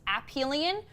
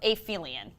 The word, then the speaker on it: aphelion: Monday was Earth's, and this word can be pronounced two different ways. I've heard it pronounced both. I've heard it pronounced Aphelion or Aphelion.